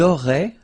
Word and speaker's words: auraient: Vous auriez, little link between the two, vous auriez, and then, ils auraient, little link, but then, look, A-I-E-N-T like that, and you only pronounce E, like we had here.